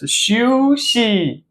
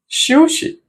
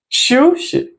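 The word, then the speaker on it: 休息: read this phrase as 休息, 休息. So the sh, we pronounce it lighter. We read it lighter with a lighter tone.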